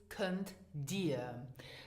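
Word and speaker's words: Kënnt dir: Let's finish now with kannst du, so can you, and the formal form is könnt dir. Now here again, listen to the pronunciation in spoken Luxembourgish.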